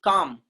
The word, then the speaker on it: calm: Next, calm. Calm. Do we say column? Column? No. LM are coming together. LM are coming together. L will be silent and sound will be what?